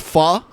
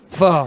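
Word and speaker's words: phở: soup fog it smelled like pho but it's pronounced Fah Fah yeah there's a whole bunch of places in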